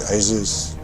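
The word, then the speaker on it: Jesús: Spelled Jesus. So J E S U S. But he pron he was from Spain. He's pronounced it Asus.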